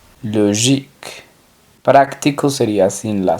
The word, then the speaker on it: logique: sería astronómico astronomic lógico se pronunciaría logic logic práctico sería sin la